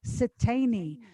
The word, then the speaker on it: Siteine: Pronounce Siteine.